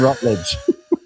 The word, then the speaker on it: Rutledge: Jason Jason CR8479 with the $4.99 super chat says, "For the love of the football gods, Bryce, there is no H in Rutledge."